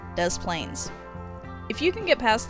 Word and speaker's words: Des Plaines: too bad number 9 des plaines if you can get past the fact that the town name is intentionally mispronounced and that it was the home of serial killer john wayne gacy those plans isn't so bad grizzly